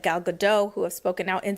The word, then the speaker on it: Gal Gadot: They've attacked him for his friendship with Gal Gadot, and that's how you say it.